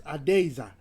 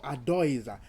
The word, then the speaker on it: Adeiza: So, Adeiza, is that how you pronounce it? Yes, Adeiza or Adoiza.